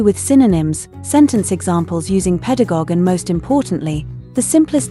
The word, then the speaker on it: pedagogue: The noun pedagogue, pronounced pedagogue, originally referred to a slave who brings boys to school.